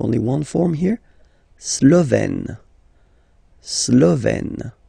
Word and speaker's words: Slovène: Slovène. Remember, E accent grave, you open it.